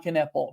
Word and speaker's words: Knueppel: Yeah, I mean, it's a good thing Knueppel rhymes with triple because you're going to be hearing that a lot this season.